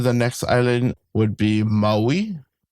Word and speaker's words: Maui: So kind of more biting down on the on the vowels. Maui.